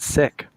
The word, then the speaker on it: Sikh: discovered from my Punjabi friends is that they pronounce it sick.